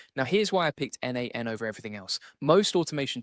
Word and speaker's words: n8n: You say it like n8n, and it's a workflow automation tool.